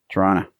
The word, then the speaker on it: Toronto: Well, that's like Toronto. Yeah. The second T is silent. If you're a local, the second T is silent. Toronto.